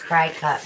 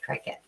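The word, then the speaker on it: Cricut: today that's right and I was calling it cry cut but I was corrected that it's pronounced cricket you're welcome you didn't do it you sure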